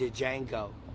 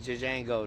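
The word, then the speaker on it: Django: letter before he says my name is Jango the J is silent isent you're not even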